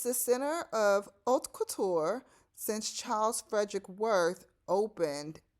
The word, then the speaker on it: haute couture: So let me try that again on the pronunciations of those 2 words. Haute couture and pret-a-porter.